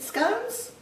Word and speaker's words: scone: Is it scones? Or is it scone? Do you say scone to rhyme with gone? Or do you say scones to rhyme with bow, toe, low, phone?